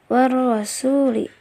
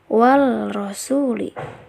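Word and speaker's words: والرسول: bacanya boros sulit Hai ada cara baca yang salah adalah well rosuli wall rosuli Nah itu salah ya karena ini bukan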